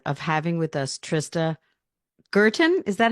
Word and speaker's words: Guertin: Today, I have the absolute pleasure of having with us Trista Guertin. Is that how you pronounce it?